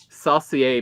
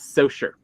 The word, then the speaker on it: Saucier: Like it is not Saucier, Mississippi, as much as people want it. It is Saucier.